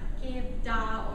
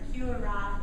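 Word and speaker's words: kewra: So it's pronounced Kevda or Qura. It's just different parts of India how you pronounce it.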